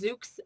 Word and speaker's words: Szucs: For those of you who are looking at the slide, you may have noticed my maiden name is Szucs, S-Z-U-C-S, which is a little bit of a tongue twister for those that aren't familiar with the pronunciation.